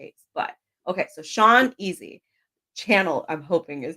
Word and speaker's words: Channell: It's Channel, just like TV. Okay. Some people are really fancy about their names sometimes. You never know nowadays. True. Most people actually pronounce it Chanel, but it is Channel.